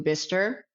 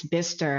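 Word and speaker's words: Bicester: And I went to Bister to meet with, I'm saying it right, it's Bister, huh? That's correct, yeah.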